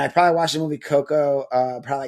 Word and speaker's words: Coco: It's just Coco with uh No A. It's not Cocoa.